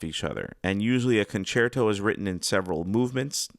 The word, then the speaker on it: concerto: Let's start off with the word concerto, which a lot of people either A, pronounce it incorrectly, they say concerto, and B, they don't really know what it means.